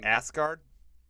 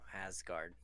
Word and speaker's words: Asgard: in asgard um the parts where we were pronounced asgard no asgard oh okay um the parts where we were